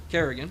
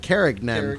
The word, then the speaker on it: Carignan: Kerrigan, yep. Or is it Carignan? Kerrigan, no, just Kerrigan. Carigan is how it's pronounced.